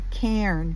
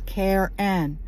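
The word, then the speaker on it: cairn: um in my mind I had always pronounced the word as a can c a i r n that's how it's spelled c a i r n one syllable I never heard the word pronounced I had only read it and I was obvious ly mispronouncing it in my mind and our tour guide pronounced it as two syllables as k n and that's how you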